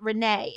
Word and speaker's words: Reina: My middle name is Queen in Spanish, but pronounced Renee. It makes me feel royal. Now I gotta look up how to say Queen in Spanish. Oh, Reina, but you're Renee.